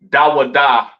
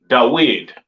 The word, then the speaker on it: David: Mm, they don't call King David Dawadah correctly pronounced in the ancient Hebrew. They call him Dawid, all right?